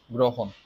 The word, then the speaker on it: গ্রহণ: একটা র ফলা তাহলে র ফলা যুক্ত বর্ণটা যদি শুরুতে থাকে তাহলে আমাদেরকে অবশ্যই ওকার দিতে হবে গ্রহণ আচ্ছা এরপর দেখি হ